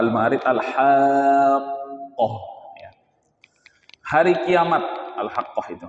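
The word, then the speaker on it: الحاقة: ya Wa adral haqoh jadi nanti bacanya ditekan sedikit alhaqqoh begitu tidak langsung alhaqoh begitu karena di situ ada dua Q yang harus kita baca yang ditandai dengan tasdid maka bacaannya alhaqoh jemah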